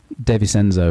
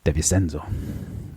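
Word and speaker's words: De Vicenzo: revent mens to speak of and that was D chenzo in 67 yeah deis senzo apparently that's how you pronounce it deis senzo thank you pardon no it's fine it's not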